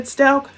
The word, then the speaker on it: Stauch: Sometimes he said Stauch. Much of the time he pronounced it like couch, which I don't think is how Letecia pronounces it.